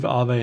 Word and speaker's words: AAVE: So I'm not finished, but I think it's pronounced AAVE based on what I've heard people pronounce the coin as. It is the Finnish word for ghost, which I found out yesterday.